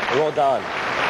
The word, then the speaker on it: Rodin: Sharon AUST Rodin all right that's correct it's pronounced AUST Rodan general information what they call the law that